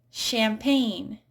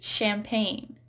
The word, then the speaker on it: champagne: So it's not pronounced when it's followed by an N. So for words like champagne, this is a French word that we use in English, champagne.